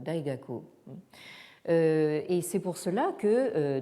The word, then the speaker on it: Daxue: particulier donc en Corée, où donc Daxue se prononce Taehak, et au Japon, donc en japonais, donc Daxue donne Daigaku.